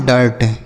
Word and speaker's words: dirt: इसीलिए नहीं पढ़ते हैं क्योंकि आई के बाद अगर आर रहता है तो आई का उच्चारण आ के रूप में होता है। ठीक, DIRT तो इसे पढ़ेंगे हम डर्ट।